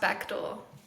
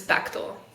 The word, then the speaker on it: Betchal: Our last name is pronounced Bectal even though it's spelled Betchal. That's what people say, but it's Bectal.